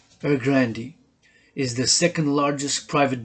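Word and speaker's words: Evergrande: start this reading session evergrandy group or the evergrandy real estate group previously henga group pronounced er grandi is the second largest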